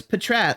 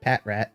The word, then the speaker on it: Patrat: Oh yeah, no, it's Patrat, like a patrol and rat mixed together, not Patrat.